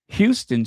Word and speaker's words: Houston: So if you hear someone from Chicago say Devon Avenue, it's actually Devon. But just like in New York, they call Houston Street Houston Street. Well, we have our own pronunciation. Um, Devon is Devon. Paulina is Paulina. Seriously, that is the Chicago pronunciation.